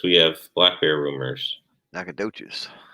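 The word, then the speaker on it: Nacogdoches: have black bear rumors nakadochis nakadochis silent it's a silent g nakadocious john wing talked about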